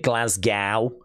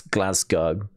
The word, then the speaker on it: Glasgow: and about in Glasgow some people call it Glasgow not in not in the okay but um abroad people pronounce it that way but it's glasg go uh this is uh I'm guessing on the